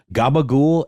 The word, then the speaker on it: gabagool: That's how they say it. They say gabagool. It's actually, I think, a capicola maybe would be how a layman would say it, but it's gabagool in The Sopranos parlance.